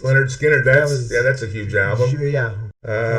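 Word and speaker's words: Lynyrd Skynyrd: Leonard Skinner, Pronounced. Leonard Skinner.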